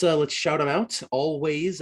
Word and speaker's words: Alvvays: let's shout them out always i believe they're always banned on um on all their socials and it's again it's spelled with two v's instead of a w so it's a l v a y s they're